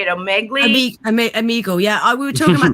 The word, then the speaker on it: Omegle: Omegle, yeah.